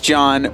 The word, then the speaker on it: John: and my name is John with a silent H welcome to episode number